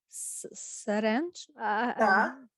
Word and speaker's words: syringe: Syringe. Syringe. Syringe. So this Y is silent.